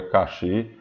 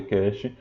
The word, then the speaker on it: cache: memória cast é normal algumas pessoas são na memória cache mas o certo é memória Cash e pronuncia Cash é registradores Travis frequência